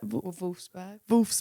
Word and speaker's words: Wolfsburg: Wolfsburg.